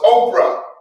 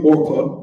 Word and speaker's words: Orpah: The name of one was Oprah. And then it's really Orpah, but right. Yeah, it's Orpah. No, I see. No, it's not wrong.